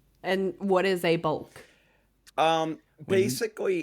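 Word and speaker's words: balk: of all b a l k yes a bulk yes I don't even like how it's pronounced or spelled yeah it's not like a chick it's a BK bulk and what is a bulk um basically it's anything that a pitcher does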